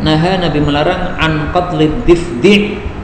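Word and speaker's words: ضفدع: Naha, Nabi melarang an qatlid difdi'. Orang-orang sering membacanya difda', tapi lebih afdalnya dibaca difdi'.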